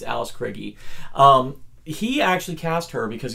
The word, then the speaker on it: Krige: Or most people say Alice Krige, but apparently Mick Garris in his podcast pronounced it Krige, so it's Alice Krige.